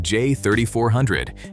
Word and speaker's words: J3400: Officially, it's SAEJ 3400, pronounced J3400, and originally it was just the Tesla connector.